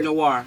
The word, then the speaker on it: Noire: Now, Noir, I don't know if I'm saying it right, but here. Noir. Noir, thank you.